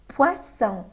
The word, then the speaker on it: poisson: الرمارك المهمه جدا جدا جدا هي ان احنا لازم ننطق صح في كلمه بواسون وكلمه بواسون. بوا بوا جاي من فيرب بوار، poisson p poisson boisson boire.